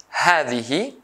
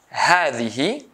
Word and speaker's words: هذه: Also, I say هذه, هذه, with long sound a, but I don't write it.